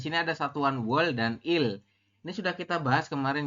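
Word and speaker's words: 이: Jadi ini dibacanya i, bukan du ya. Kalau yang du kan itu berarti bilangan asli Korea.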